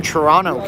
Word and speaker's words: Toronto: Hey guys, when you're in the United States and you say Toronto, don't say Toronto. It's funny because Canadians don't say it like that, although it's pronounced that way.